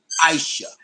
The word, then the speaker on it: Aisha: over people names because your name is spelled A I S H A. And you said you pronounce it Aisha.